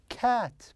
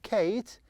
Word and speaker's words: cat: It is cat. Perfect. Cat, cat, not Kate, cat. If I have E here, yes, but there is no E, so I pronounce as cat.